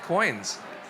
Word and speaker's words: Qoins: is with coins welcome yeah thank you everyone my name is and I'm the co-founder of coins spelled with a Q so in 2015 I